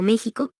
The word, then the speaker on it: México: La pronunciación de esta X, en esas y otras palabras, es ficativa velar sorda, es decir, suena como J. Constituye, por tanto, un error ortológico articularla como K es 23.23.